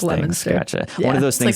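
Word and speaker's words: Leominster: Yeah, it's spelled right. It's just pronounced Lemonster.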